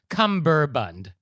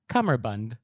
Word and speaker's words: cummerbund: necktie okay so first of all the correct pronunciation is CER Bund c m m e r b n d yes it's not cumberbund or cumber bun it's cumberbund oh wow with me c bun okay so